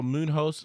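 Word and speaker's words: Muñoz: And in the main event, Pedro Munoz versus Frankie Edgar.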